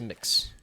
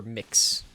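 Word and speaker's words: Mx.: to be pronounced as mix or mix basically whichever one happens like it's been explained to me i think several times as mix but it's one of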